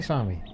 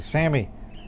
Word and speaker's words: Sami: Sami. Excuse me, Sammy. It's pronounced Sammy down there.